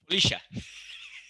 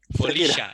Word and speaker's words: Folixa: So, you know, say like Shakira, you know, Folixa, like Shakira.